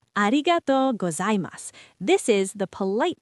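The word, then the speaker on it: ありがとう: ありがと Arigato. This is thank you. Let me say it slowly. Arigatou.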